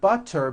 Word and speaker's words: butter: So if a letter T falls between two vowel sounds, which are voiced, so if it falls in the middle of vowels, then the T is pronounced as a D and the whole word is voiced.